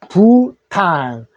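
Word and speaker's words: Bhutan: 하노이 비남 하노이 베트남 하노이 자 그다음에 15번째 부탄 자 부 마찬가지 bh 할 때를 소리 내지 마십시오 그래서 부 부 부 부 t 탄이 됩니다 부탄 영어로도 부탄이라고 하시면 되고요 수도는 부입니다 요는요 팀이죠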